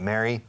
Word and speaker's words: married: I'm going to get married one way or another. No. Pobre María. Pobre María. I'm going to get married. Married. Married. No me pongas una tercera sílaba. Married. Two syllables.